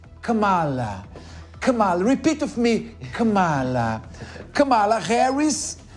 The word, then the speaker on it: Kamala: que mora nos Estados Unidos vou falar a pronúncia certa para vocês na boa hein Cala cala repeat with meala kamala Harris e Donald trump chegam Tecnicamente empatados na